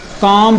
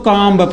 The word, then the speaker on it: comb: कॉम पढ़ेंगे, ना कि हम इसको कॉम्ब पढ़ेंगे। अगर हम इसे कॉम्ब पढ़ें समझो हम गलत पढ़ रहे हैं।